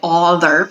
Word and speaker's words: other: So the schwa sound in this case is made with an O, even though it sounds like other. We don't say other, we say other.